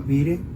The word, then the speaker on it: Vire: Nos vamos a un lugar que se llama Vire, se pronuncia Vir, y hasta allá estábamos era colindando en la Normandía, donde se hizo el desembarco del desembarco de Normandía.